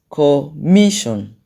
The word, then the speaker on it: commission: And then the next one is commission. Commission. The stress is on the me. That's where you have the loudest sound.